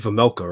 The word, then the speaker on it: Vejmelka: Is it Vejmelka, right? Karel Vejmelka? Yeah. That's how you pronounce it?